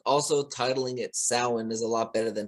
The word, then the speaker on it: Samhain: Like I always thought it was pronounced Samhain as well, and Yeah, it is pronounced Samhain.